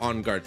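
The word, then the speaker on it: en garde: It's Is it pronounced onguard or on guard? It's on guard, so it's French. But yeah, you kind of can get away with going on guard. But yeah, unguard. It's like French basically.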